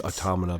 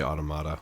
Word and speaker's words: Automata: It's Automata, but I always say Automata. Yeah. It's not correct.